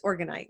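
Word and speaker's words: orgonite: You said that you used a lot, and am I pronouncing that right? It's organite, right?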